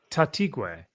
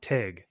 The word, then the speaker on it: Taitague: I always pronounce it incorrectly. Taitague. Rudy Taitague, and I call him Tague. Rudy Tague, but it's Taitague.